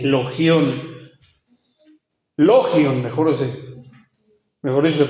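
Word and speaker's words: λόγιον: logion l o g y latina o n logion logion mejor dec mejor eso se pronunciaría una forma diminutiva de la conocida expresión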